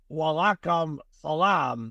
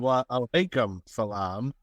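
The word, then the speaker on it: وعليكم السلام: He's gonna say salam alaikum, and then you're gonna say walaikum salam. No, it's salam alaikum and wa alaikum salam.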